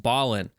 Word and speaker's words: Balin: kit reveal for Lord Balin I know I pronounced it Bailon in the last video but it is pronounced Ballin uh so I'm correcting that for this time